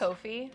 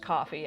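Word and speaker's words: Ko-fi: It's Kofi. Yeah, kind of like coffee but but a little bit different. I think I always pronounce it Kofi. So I heard other people say it just coffee and I've just been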